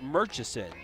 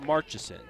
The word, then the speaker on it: Murchison: I was pronouncing your name wrong. It's Murchison, not Marchison. Well, Murchison like merch is what McDog said.